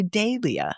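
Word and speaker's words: dahlia: It's funny the Brits say Dia. And I see that H and I can't go Dia. I want to say Dalia.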